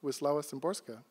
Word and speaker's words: Wisława Szymborska: The great poet Wisława, I can never get her name pronounced properly, but Szymborska, Wisława Szymborska.